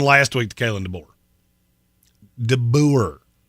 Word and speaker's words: DeBoer: DeBoer, as it is spelled.